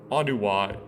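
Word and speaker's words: Onewa: I call Vekama, Nokama, Anua, Winua, Anuwa, how it's pronounced, Winua, Nuju, and Matau.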